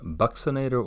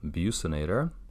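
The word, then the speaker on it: buccinator: zygomaticus minor we have the bucks inator or abuse inator however you would like to pronounce it I've heard it either way yeah if the sphincter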